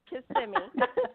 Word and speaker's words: Kissimmee: It's in Kissimmee, Florida. Is that correct? Is that my pronouncing it correctly? That's right. Kissimmee. That's right. That is commonly pronounced incorrectly.